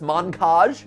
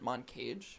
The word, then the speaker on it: Moncage: are we playing today i've never heard of this montage montage montage i personally would pronounce it mon cage mon cage your channel